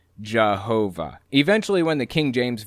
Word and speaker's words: Jehovah: yaho and of course using a German accent y's are pronounced like J's and W's are pronounced like V's so as it passed through the Germanic region it morphed into Jehovah eventually when the King